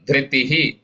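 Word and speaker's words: धृति: Satwan Tejo Balan Dhritihi. Dhriti, Mahapranatha. Dhriti, short E.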